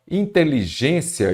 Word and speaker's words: inteligência: toda proparoxítona é acentuada agora inteligência eu já disse antes qual que é a sílaba tônica é a penúltima Então ela é uma